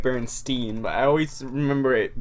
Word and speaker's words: Berenstain: Berenstein Bears.